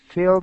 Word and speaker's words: filled: When you see E and D, it's not a T sound.